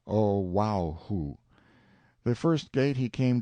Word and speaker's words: Oahu: I named him after this island Oahu pronounced oh wow who the first gate he